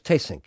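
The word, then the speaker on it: Theessink: Hans tasink's wife and manager Melissa you actually pronounce his name is taysync he is Dutch but living in Vienna as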